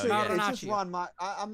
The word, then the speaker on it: Marinaccio: No, it's Marinaccio.